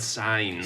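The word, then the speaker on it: Sainz: Sans. Is it Sans? They said signs.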